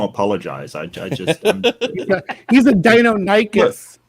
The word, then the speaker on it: Deinonychus: I just he's a Deinonychus, not a Dinocurus. Seriously, I loved this word and I kept pronouncing it petrichor, and then I found out